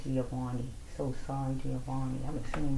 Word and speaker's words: Giovanni: But God said, "Get a backbone, Giovante. I'm saying it wrong." Giovani.